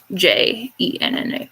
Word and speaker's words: Jenna: older sister genevieve or jenna for short that's g e n n a not j e n n a but anyway uh and it's not genna it's jenna like genevieve for our cousin jason